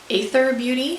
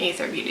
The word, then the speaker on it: Aether Beauty: and this is the, it used to be A-E-T-H-E-R, but then they dropped the E's. But I think people were already confused about how to pronounce it then. So is it whatever. I'm saying Aether Beauty.